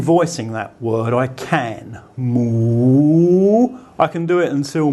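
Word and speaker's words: หมู: So it makes the initial consonant high class, but it's actually pronounced with an M sound, and it has a rising tone. So it's mu. If I want to continue voicing that word, I can. Moo.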